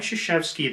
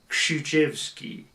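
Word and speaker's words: Krzyzewski: properly pronounced so mike shishevsky the proper pronunciation as i've understood it would be shuchevsky so the k is still present in there uh and then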